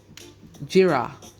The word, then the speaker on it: Gyira: Now, the fruit of the calabash, the Jamaican Tinos call it jira. I'm going to spell that for you. It's Gyira. But today, both the tree